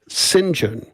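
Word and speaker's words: St John: It's st and then you know space John but it's pronounced singen.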